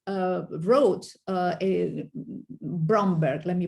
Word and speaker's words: Bromberg: the knowing but not knowing and has philly bloomberg uh wrote uh a bromberg let me pronounce it well elaborating uh dory loves idea